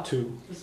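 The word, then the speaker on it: tú: So sometimes they pronounce it as hu instead of tu.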